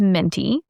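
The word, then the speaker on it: Mintie: So my mother-in-law's name is Minty. Mm-hmm. That's her actual name. Like minty as in I put a mint in my mouth and it's peppermint.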